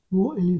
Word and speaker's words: whole: W is a silent letter in WHOLE, whole.